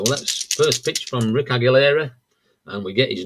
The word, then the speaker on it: Aguilera: And as we go to the bottom of the first thing, Rick Aguilera will be It is Aguilera. I've tried to I've said it wrong both times now.